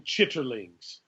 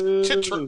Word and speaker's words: chitterlings: in what way howdy how come you can put so many syllables in the word chickens all my life chittering chittering no if we're gonna use the Qing English on the King's English on this podcast okay it's chitterlings no that's the slave